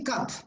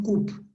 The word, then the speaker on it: cup: You say cup, no coupe. It's a short sound, cup, cup of coffee.